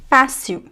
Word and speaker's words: fácil: foreign accent within seconds if you if you pronounce the l at the end of syllables. So repeat after me to practice. Brasil Brasil fácil fácil auto auto This is